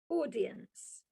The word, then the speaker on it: audience: The most challenging word is a word with the letters AU, audience. Think of the name Paul, P-A-U-L, or Pauline. So AU is or. So Paul, Pauline, audience.